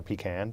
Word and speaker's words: pecan: a little too much pecan pie or pecan depending on how you pronounce it and you're thinking